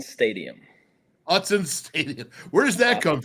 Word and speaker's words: Autzen: Go ahead and pronounce the correct way to say the stadium? So it's Autzen Stadium. Autzen Stadium.